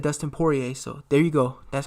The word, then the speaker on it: Poirier: you know got a properly source so Dustin Poirier and that's how you pronounce his last name her PO che PO a all that good stuff I heard him in an interview said Dustin Poirier so there you go that's how you pronounce